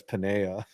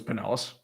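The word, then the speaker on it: Pinellas: One time um baseball doesn't exist pronounced Panellis County, Florida as Panea. And I was like, well, I mean that makes sense because you think it is uh it is Spanish. Yeah, it would be Paneas. Yeah, you have to go everywhere and experience everything to pronounce things, right?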